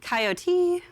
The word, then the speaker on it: coyote: The 2 most common in the US would be the 3-syllable coyote, which I say.